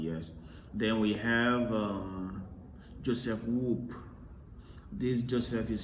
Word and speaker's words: Wolpe: Then we have Joseph Whoop. This Joseph is spelled Joseph, right?